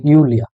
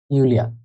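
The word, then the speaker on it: Julia: যাদের নাম জার্মানতে জুলিয়া আছে ওদেরকে বলা হয় ইউলিয়া ইট উ এল ই আ ইউলিয়া এখন এ জায়গায় রিটার্ন আসে তাই বলে কি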